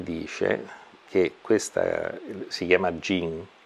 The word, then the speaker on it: Jing: Ora la medicina cinese ti dice che questa si chiama Jing. In cinese, Jing è scritto, ma si pronuncia Jin, come in arabo si pronuncia il genio della lampada.